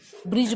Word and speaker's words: bridge: ब्रिज बोलते हैं, ब्रिज, BRIDGE, तो मैं इसको ब्रिडग नहीं बोलती, ब्रिडग, ठीक है, क्योंकि यहाँ पर ये जो डी है वो क्या है, आपका साइलेंट है।